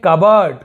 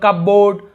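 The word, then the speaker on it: cupboard: यहाँ पर देखिए कबर्ड, कबर्ड यानी अलमारी, बहुत से लोग कपबोर्ड, कपबोर्ड ऐसे बोलते थे, कबर्ड, कबर्ड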